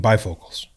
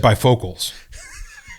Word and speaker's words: bifocals: don't know I'm sorry you said bifocals yeah you mean bifocals oh yeah you said by vocals you put the wrong emphasis on the syllable oh that's because of